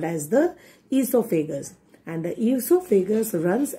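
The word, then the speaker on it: oesophagus: food pipe children esophagus o is silent okay it is pronounced as esophagus now when we chew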